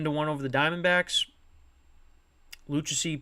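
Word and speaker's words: Lucchesi: one over the Diamondbacks luchacy picked up the win that's how you pronounce it and Jacqueline picked up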